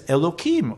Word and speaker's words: Elohim: to the almighty as elokim or with a hay instead of a kuf elohim modern day critics now